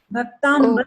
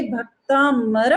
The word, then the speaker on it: भक्तामर: भक्तांबर ना बोल के भक्तामर प्रणत प का जो है उच्चारण, उसको हाँ जी।